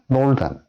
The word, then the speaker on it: northern: 그러니까 north 할 때 그때는 스 발음인데 ERN이 붙으면 northern. 더 발음으로 바뀐다.